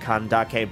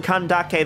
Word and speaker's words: Candace: are gonna be like why are you pronouncing Santa on kandake that way well for me as someone who has had my name mispronounced almost all my life I would like to do my due diligence and trying to do do my best to correctly pronounce the names from the respective characters from different cultures and I think the one